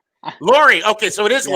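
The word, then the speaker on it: Lurie: How do you pronounce it? Lori. Lori.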